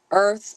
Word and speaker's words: Irth: Regional Coordinator for the Earth app. For those that don't know, the Earth app, and that is spelled IRTH, is a Yelp like platform for Black and Brown birthing people.